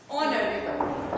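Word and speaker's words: honorable: इसके अंदर क्या है कि एच जो है म्यूट हो गया, यानी कि वो क्या है कि साउंड लेस हो गया, एच साइलेंट है, कहने का मतलब ये हो गया। पर उसको जो प्रोनाउंस कर रहे हैं वहां पर हम एच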